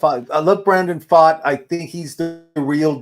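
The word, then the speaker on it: Pfaadt: a DT y yeah F I love Brandon fought I think he's the real deal I I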